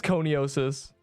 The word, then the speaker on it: coniosis: It is coniosis. That sounded weird. It sounded like, yeah, I feel like Coney Island is how that's meant to be spelled, but I guess not.